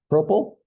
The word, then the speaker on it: propyl: How do you say that? What is that? Propyl. Okay. I like that better than what I'm saying. Propyl alcohol.